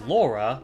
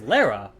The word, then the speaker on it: Lara: a consistency to them all the American actors pronounce her name as Laura but all the British actors pronounce her name as Lara how it's originally intended it's pretty clear